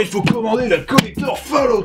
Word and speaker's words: Fallout: En plus, ça se prononce Fallout.